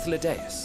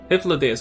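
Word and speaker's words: Hythlodaeus: I am Hyphlodeus, Hyphlodeus. Chief of the Bureau of the Architect. Oh. Hyphlodeus.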